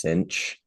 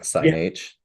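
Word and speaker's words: sinh: ahead on Zoom um I've I've also heard Kos and then I've heard it pronounced cinch or sign H I've heard that one as well yeah cinch and Kosh are the two I say a lot but when it comes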